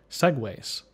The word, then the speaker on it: segues: neat trick for this segues this is spelled SE GU es but it's pronounced the same way as the silly scooters and a segue is